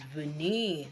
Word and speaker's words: venir: so that's by the way today's own is vene okay vene is to come let me spell v v is spelled v e n i r okay you